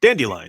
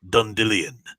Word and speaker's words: Dandelion: different in their horrible adaptation on Netflix but dandelion his name is dandelion but the guy reading the first two books pronounced it done Dillion trying to make it cooler or something you